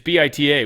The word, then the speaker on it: Bita: Insisted you pronounce it Beta. It's Bit Ta. We'd all be like, "Hey, what's up, Beta?" She'd be like, "That's not how you say my name." Like, "Huh? Beta. Bita." She's like, "No, it's Ba."